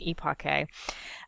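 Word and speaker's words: epoché: on phenomenology or EPA yes that's how you pronounce it eake um the same thing so what that means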